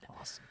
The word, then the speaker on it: ASOM: very first awesome pod awesome awesome it's spelled Asom M we'll talk about that